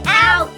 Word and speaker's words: Haute: ed three two one out dog out dog yeah Alise her name is spelled H a ute but you don't pronounce the H so why not why